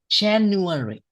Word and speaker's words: January: January. January. January. January. We have January. Four different syllables, right? January.